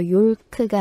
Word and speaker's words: yolk: 근데 이 L 사운드는 묵음이라서 yolk가 아니라 yolk, yolk라고 하시면 돼요.